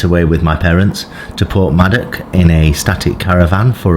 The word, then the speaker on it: Porthmadog: My name's and I was passing through Portmadoc or Madoc, depending on how you pronounce it, but it is with a G on the end, and I got some